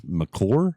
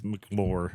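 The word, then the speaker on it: McLure: We talked We talked about a We talked about a hotel in Wheeling called the We We were pronouncing it as Mccor. It's Mclo.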